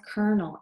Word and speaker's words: colonel: word colonel right but it is it's it's pronounced colonel and a colonel is an army officer who